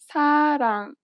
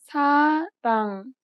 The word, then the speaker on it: 사랑: 사랑. 사랑. It sounds closer to an L than an R in English. Listen again carefully. 사랑. 사랑.